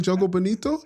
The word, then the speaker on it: Jogo Bonito: Like, no, you don't like Jogo Bonito?